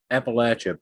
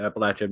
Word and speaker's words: Appalachia: That's how they No, pronounce it's it. Appalachia. No, it's pronounced Appalachia. I spent I'm a lot of pretty sure. time. I don't think you're right on this one. I've heard it both ways.